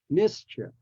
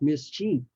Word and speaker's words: mischief: at the next one the word ch has a long sound Chie but in this case it's at a short sound Mischief Mischief not mischief and the reason is it's unstressed so when it's unstressed it takes a a short vowel sound whether it has two